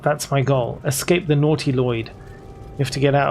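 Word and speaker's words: Nautiloid: Pronouncing as naughty Lloyd moving forward.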